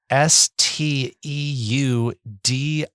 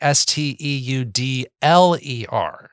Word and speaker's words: Steudler: I thought there was an IER and I thought there was something French going on there.